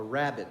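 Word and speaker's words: rabbet: that is called a rabbit joint and it's not spelled like the bunny rabbit it's spelled r-a-b-b-e-t so we're going to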